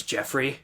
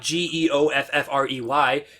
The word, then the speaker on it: Jeffrey: My brother's name is Jeffrey. Just like Joffrey? No, it's not Geoffrey. It's Jeffrey. Jeffrey.